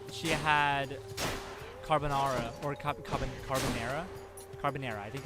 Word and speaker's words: carbonara: her and there she had carbonara or carbonara carbonara i think it's pronounced the americans pronounce it she had carbon era like almost every single day or very often